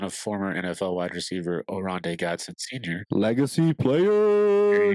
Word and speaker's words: Oronde: Don't want to try to pronounce his first name a second time. I'm pretty sure it's Oronde. One thing you'll love about him, he's son of former NFL wide receiver Oronde Gadsden Sr.